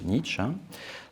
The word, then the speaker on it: Nietzsche: nos actions Frederich Nietzsche donc à la française on prononce plutôt Nietzsche Nietzsche est néanmoins ce